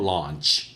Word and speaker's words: launch: 론칭 아닙니다. 이 AU 발음이 C자 거꾸로의 장모음입니다. 그래서 launch예요. 아와 어의 중간쯤 입을 벌리시고 launch 해서 발음하시는 건데 론칭이라 그러면 안 됩니다.